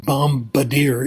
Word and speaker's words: bombardier: It turns out if there's a B at the end of a word and it comes after M, it's not pronounced, but there are exceptions. Like bombing, it's not pronounced, but bombardier it is. It depends on the nature of the suffix.